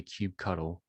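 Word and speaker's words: kubectl: it's ctl so you know some people say cube cuddle um i guess i could say cry cuddle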